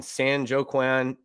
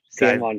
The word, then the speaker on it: San Joaquin: The suit filed Thursday in San Joaquin County Superior Court, as ESPN reported. San Joaquin.